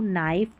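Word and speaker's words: knife: क्योंकि के है ना यह साइलेंट रहता है। इसको बोला नहीं जाता। तो यहां पर के को तो भूल जाए कि के का साउंड आ रहा है। नहीं नो नाइफ नी नोक।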